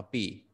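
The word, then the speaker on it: 匕: cái thìa, đọc là pỉ. Bộ tỉ, ta cứ ghi là bộ tỉ, nó về cái thìa là được. Âm đọc nó là pỉ, B-I thành 3, đánh trên chữ Y.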